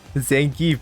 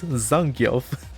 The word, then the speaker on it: Zangief: Zangief, there it is. Zangief. Zangief sounds so good though. I didn't know that's how it's supposed to be pronounced.